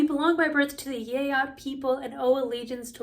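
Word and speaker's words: Geat: So we belong by birth to the Yeat people, and that is how you say it. If you're looking at that thinking you're out of your mind, it actually is the Anglo-Saxon way, which is not the important thing here.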